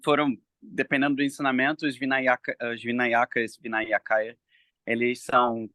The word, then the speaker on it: Vinayaka: Não sei se vocês já ouviram o termo Vinakaya. Vinakaya é possível, é Vinayaka, eu acho que é assim que pronuncia, Vinayaka, alguma coisa assim.